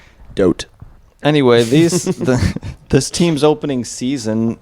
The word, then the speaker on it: Vogt: Stephen Vogt. Vogt? Yeah, from 2022. No G. Well, there is a G, but not There is a G, silent but you can't pronounce it. Yeah. Um, Fucking don't. Yeah. Dote.